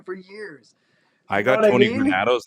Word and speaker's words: Granato: I got Tony Granato's name wrong for the longest time. I called him Tony Granto. And I finally realized there was an A in the middle.